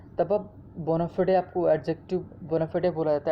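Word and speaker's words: bona fide: Next हमारा word है बोनाफिडे, है ना, इसको लोग बोनाफाइड भी पढ़ते, बट एग्जैक्ट प्रोनाउंसिएशन इसका बोनाफिडे है ना, बोनाफिडे।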